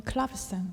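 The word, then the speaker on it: clavecin: 코드는 어떤 바뀌었나요 어 하프시코드 는 이제 영어로 발음을 1 그렇고요 독일어는 챔 팔로 또 젤 불어로는 클럽이 쌍 이렇게 얘기합니다 그래서 이 합시 코드 같은 경우는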